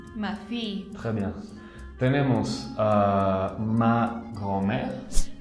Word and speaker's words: fille: Aquí también es una I larga, ma fille. Ma fille.